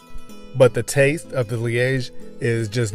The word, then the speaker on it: Liege: to make liege waffles i've heard it pronounced lige a lot but i'm used to calling it liege so that's what i'm calling it these are delicious and